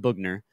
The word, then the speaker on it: Bogner: tangay you got uh Bogner it's pronounced boogner um which I still